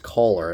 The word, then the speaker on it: Kohler: last year's um uh cooler generators i i actually i think it's actually pronounced like you know the store is like holes so just add er to that so it's color i believe but i